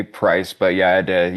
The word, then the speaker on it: PR1CE: Under the title of I thought it was Price, but it's you pronounce the band name PR1CE, yeah. Yeah. So it's obviously Price, but yeah, I had